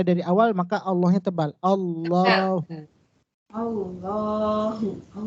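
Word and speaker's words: الله: Allahu Allahu Allahu kemudian kapan lagi lafaz Allah dibaca tebal apabila lafaz Allah lafzun jalalah sebelumnya berharakat fathah ini ada Allah kemudian wya sebelumnya berharakat fathah atas qulhuallah tebal P Allahnya Qul huallahu Jangan dibaca tipis qulhuallah salahlhuallah Qul huallah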